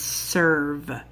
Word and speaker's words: serve: The first ER word we're gonna look at is serve. S-er-v, with a silent E.